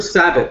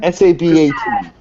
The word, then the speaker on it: Sabat: Oh, Christopher Sabat.